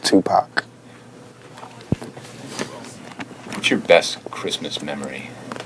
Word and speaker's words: Tupac: you pronounce your name Tupac Tupac mhm remember like two like two and Pock like pocket you won't go wrong just Tupac what's your best Christmas